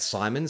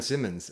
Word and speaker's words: Simons: myself, I said Aaron Simmons. And like, they went with it. And so they had to change my character's name because I didn't know how to pronounce Simons.